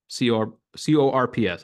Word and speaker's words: corps: science and pursue a career in the diplomatic CORPS. How do you pronounce that?